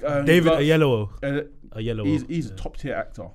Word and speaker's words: David Oyelowo: How do you pronounce it? David Oyelowo.